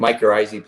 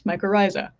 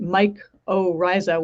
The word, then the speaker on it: mycorrhizae: health is important and for years i could not pronounce mycorrhizae because i didn't know how to say it so calling it mike oh ryza which um your thumbnail